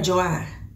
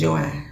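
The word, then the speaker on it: Joi: And her daughter, who I said her name was Joy, because it's spelled J-O-I. She keep calling her Joy. So I guess the little girl name is Joy.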